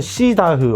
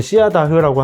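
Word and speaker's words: Ceadach: 어디서는 시다흐 어디서는 시아다흐라고 하는데 이제 제가 그 선수 콜네임을 좀 듣기 위해서 여러 가지 영상을 찾아보니까 케이닥이라고 많이 발음을 하더라고요. 그래서 저희가 이제 케이닥 오닐이라고 해놨는데 네, 케이닥 오닐 선수는 북아일랜드 출신의 선수예요.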